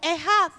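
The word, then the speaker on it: אחד: La palabra unidad en el hebreo se escribe o se pronuncia como ejad.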